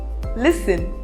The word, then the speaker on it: listen: It is not exactly a rule, but there are some words in which the letter T is silent. For example, often, fasten, listen, Christmas, castle.